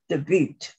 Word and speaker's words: debut: Because it's a French word and that U is pronounced U, so it's debut.